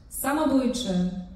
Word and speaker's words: Samobójcze: Samobójcze. Samo. Ich muss das S ja scharf aussprechen. Samobójcze.